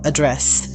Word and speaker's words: address: The noun form address, pronounced with the stress on the first syllable, is used in sentences like, please provide your mailing address for correspondence.